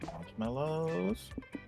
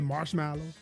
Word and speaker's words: marshmallow: You remember that one exec from Google who pronounced it marshmallow? He was talking about Android, he just kept calling it marshmallow. On Android, marshmallow. Like, that's not how you say that. It's marshmallow. What are we doing?